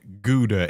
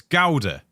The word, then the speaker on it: Gouda: Why do you Americans say Gouda instead of Gouda? It's Gouda.